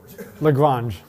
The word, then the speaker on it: Lagrange: to be pronounced properly what mathematician's name um does not rhyme with orange or maybe it does no which lagrange right that's the one word you can use that rhymes with orange if you get stuck lagrange not grange lagoon okay so what